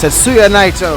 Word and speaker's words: Tetsuya Naito: It's Tetsuya Naito. The announcer can't say it right.